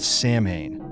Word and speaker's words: Samhain: The origins of Halloween trace back to an ancient Celtic festival called Samhain, pronounced Samhain.